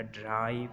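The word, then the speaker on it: drive: hope हमने लंबा कर दिया, ड्राइव हमने ड्रिव नहीं बोला, हमने बोला ड्राइव, तो ये वॉवल को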